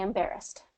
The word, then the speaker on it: embarrassed: you go embarrassed embarrassed so it's second syllable stress you're going to get that inar embarrassed and it's going to have that long a sound in there Emar bear